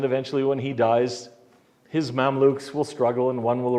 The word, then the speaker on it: Mamluks: From 1250 to 1517, a dynasty called the Mamluks. Spell it the way it sounds, M-A-M-L-U-K, something like that. M-A-M-L-U-K, I think would do it in English.